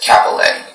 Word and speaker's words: cappelletti: The word is pronounced Cappelletti.